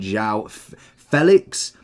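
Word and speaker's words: João Félix: that would be incredible Vinnie obviously being another one and Zhao Felix is how I believe he said he wants his name pronouncing or at least that is how his name is pronounced rufina is another great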